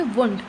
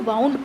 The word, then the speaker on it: wound: तो स्टूडेंट्स यहाँ पर ध्यान देंगे, वाउंड एक शब्द है, WOUND, जिसका आमतौर पर मीनिंग इसको हम प्रोनाउंस करते हैं वुंड। वुंड का मतलब होता है चोट लग जाना या घाव, और मैंने अभी इसको वाउंड पढ़ा, इसका मतलब क्या